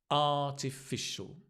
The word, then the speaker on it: artificial: slow down Aral artificial artificial the stress is on the r artificial intelligence can you